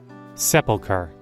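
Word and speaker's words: sepulcher: I need to look up how to pronounce that word. But I'm I don't think I'm saying it right. Sepilar. That was really loud. I'm sorry. I actually was pronouncing it right.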